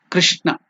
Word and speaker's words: Krishna: So it should be pronounced as not even Kru or Kri. It is Kr. In between that Kru and Kri, there is a pronunciation in between. Krishna.